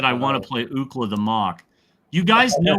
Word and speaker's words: Ookla: So Ookla the Mock is named after UCLA, and that's the phonetic pronunciation of UCLA is Ookla.